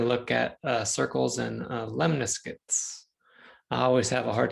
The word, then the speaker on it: lemniscate: look at circles and lemniscates. I always have a hard time pronouncing that one. So I did bring up a YouTube pronunciation. Lemniscate. Lemniscate. That's how you pronounce it.